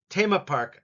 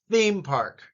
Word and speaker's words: theme park: Tema park, I know, but with the TH sound, put your tongue between your teeth. Theme park.